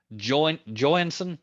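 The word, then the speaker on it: Joynson: with you from Sid Jo Joon I think is the way you say his name Jo y NS o n anyway anybody's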